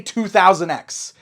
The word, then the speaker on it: 200X: Yes, I say 2000X. I always see criticism on that. I always see arguments on how that's actually pronounced. I think 2000X is the correct way to pronounce it.